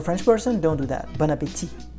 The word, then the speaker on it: Bon appétit: Bon appetit. Don't do that. If you want to sound like a French person, don't do that. Bon appétit. Just consider the last T as a silent one.